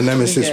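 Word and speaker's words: Knemesis: And it's the nemesis with a silent K. The silent K. Like what? Like the K and knife.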